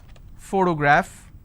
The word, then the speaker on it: photograph: For example, if I have the word photograph, again I have first sound. So just because I have the letter P doesn't mean I can pronounce this as per always.